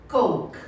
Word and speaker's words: Coke: Gente, a pronúncia de coca é coke. Não pode falar coke é galo.